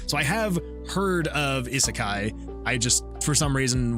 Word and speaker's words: isekai: um in is is is it uh pronounced isekai I think that's how it's I think that's how I've heard it pronounced an isekai uh is